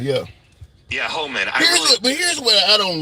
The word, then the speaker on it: Homan: That Haman guy, or whatever, however you pronounce his last name. Yeah, Homan. Yeah. Yeah, Homan.